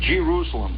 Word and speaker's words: Jerusalem: and you come whistling at Jerusalem by the way is the way it's pronounced out there you start coming into